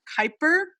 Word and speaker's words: Kuiper: Everybody, I hope you pick up a copy of Beyond Kyper. I've learned how to pronounce it correctly um over at Skylight Books.